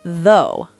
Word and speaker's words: though: What about though? G H is silent this time.